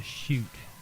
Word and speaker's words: Sheut: Then you have the shoot, which is the Sheut, and that's the shadow.